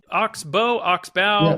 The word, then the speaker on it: Oxbow: Am I pronouncing that correctly? Is it Oxbow?